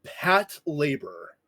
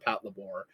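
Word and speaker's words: Patlabor: Uh it is also often called Pat Labore. Pat I have always called it Pat Labore. I know the proper way to pronounce it is pat labor because it's short for patrol labor because the mechs in the show are called labors.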